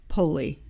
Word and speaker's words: Poli: which is my given name at birth poli which is my husband's name so wait wait